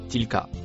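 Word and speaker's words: تلك: Le mot écrit en rouge se prononce tilka.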